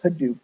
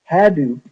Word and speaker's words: Hadoop: five slides ago he started the open source Hadoop project when it came time to name the